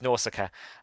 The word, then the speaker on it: Nausicaa: I do apologize again, but it's Nausicaa. Beautiful name. I just wish I could pronounce it properly.